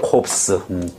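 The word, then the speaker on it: corpse: 붙어 se 붙어가 붙고 발음을 어떻게 한 코스라고 발음해 콥스음 그냥 이거 단순하지가 않아 콥스 콥스 그러니까 여기는 보통 명사가 반드시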